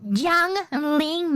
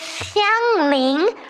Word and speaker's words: Xiangling: It's not Zhongling, Maxor. It is Xiangling, not Zhongling, okay?